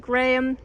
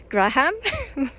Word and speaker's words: Graham: So I've learned recently that you don't say Graham, what I was saying. You say Graham, and there's differences, I guess, between how they say it in UK and how they say it in the US.